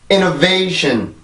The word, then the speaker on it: innovation: 자, 이제 다 발음해요. innovation.